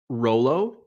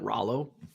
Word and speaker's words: Rolo: I'm like, how do you pronounce this candy? She's like, Rolo. And I'm like, for my entire life, I've called it Rollo.